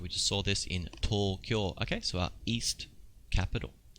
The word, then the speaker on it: Tokyo: Alright, so notice we got a long U sound here. Tokyo. Tokyo じゃなくて Tokyo. Okay, 次行きましょう.